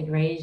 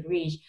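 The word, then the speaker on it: greige: Some people say grege and some people say grige, but it's a combination of beiges and browns or neutral with a touch of gray in it.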